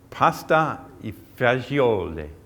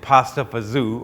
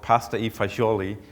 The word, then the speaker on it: pasta e fagioli: Other people, if you're an Italian from the the East Coast of the United States, you're probably calling it pasta fazool or pasta fazool because it's one less syllable, and I guess people